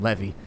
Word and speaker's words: Levy: Like, do you say Levy like the levee's about to break? Or is it Barrington Levi? I think it's Barrington Levy. That's what I say. It's spelled like levy, like when the levee breaks. I would assume that if it was like biblical, like Levi, then it would be spelled that way.